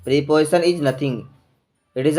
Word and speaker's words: preposition: तो ये प्रीपोजिशन जो होता है इसको हम प्रीपोजिशन नहीं पढ़ेंगे बच्चों, इसका प्रोनाउंसिएशन जो साउंड होता है प्रे होता है, प्रे, PREY, प्रे। तो इसलिए हम इसको प्रेपोजिशन कहते हैं।